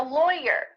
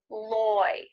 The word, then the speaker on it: lawyer: i'm a lawyer lawyer even though the root of this word is law the vowel is different when we're talking about the person loy loy it sounds like it rhymes with boy toy lawyer lawyer or maybe you're